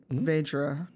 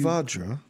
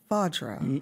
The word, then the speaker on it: Vajra: Vedra, can you create a it's cube? Vajra. Vajra. You know, like the A, like the vowel is pronounced like a ah.